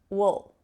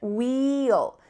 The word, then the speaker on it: we'll: Not wheel, that's the clear pronunciation, wheel. Sometimes you'll hear this, you can say this, it's no problem, but oftentimes when native speakers are talking quickly, you're gonna hear wool, wool, wool.